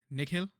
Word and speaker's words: Nikhil: Yeah, it's Nikhil, but then most people who are not used to pronouncing Indian names put too much emphasis on the H and like the and like Nikhil, and I'm like, no, it's not that.